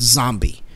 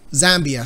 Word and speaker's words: Zambia: South Africa, Zimbabwe and I think it's pronounced Zambie, Zambie or something like that. So only Zambia? Zambia. Sorry, my bad.